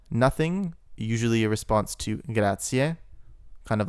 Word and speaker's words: grazie: Also notice that in a lot of movies they pronounce this word grazie. It is in fact grazie, ie at the end.